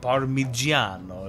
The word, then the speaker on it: Parmigiano: And in Italian, it's spelt with a G. Parmigiano is like how it's spelled.